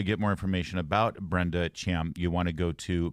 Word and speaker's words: Thiam: people it's uh it's help them understand how to pronounce my last name it's pronounced Cham can you leave it